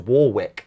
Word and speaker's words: Warwick: I fucking applied to Warwick University, and I went around telling people I'm going to go to Warwick. And they were like, I think you mean Warwick. And I'm like, I've seen how it's spelt, mate.